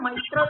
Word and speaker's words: mitral: Ma'am, how is it pronounced? The left ventricular aperture is guarded by. After that, what? Bicuspid mitral valve.